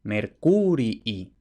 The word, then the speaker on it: Mercurii: étimo clásico es Mercurii, es decir, con dos i's y además con el acento en la U, Mercurii.